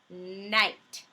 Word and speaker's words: night: long I sound and we might have words with IgH but with a T on the end so there's my i GH and then I add a T to the end to make this word night I still have my